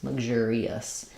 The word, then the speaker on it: luxurious: say luxury luxury in luxurious we only use the G sound and we stress on the J syllable so we have lug with a pretty short little vowel here lug e us luxurius and as I go